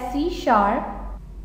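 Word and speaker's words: C#: Long question start होगा, सी hash pronounced as सी शार्प इज an object oriented programming language based on सी plus plus.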